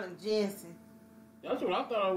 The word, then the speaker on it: Jussie: Say just. Jussie. Thank you. Jussie. Smollett. Yeah, I got the last name. Smollett. A lot of people can't say. Everybody on social media call him Jussie.